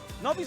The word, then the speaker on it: Nobi: How do you say it? Say it again. What's his name? Nobby.